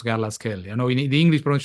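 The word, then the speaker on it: Garlaschelli: English pron would be garasi but g r l a s c h e l l i so c h e in it ke instead of she as you pronounce in English so it's gasell not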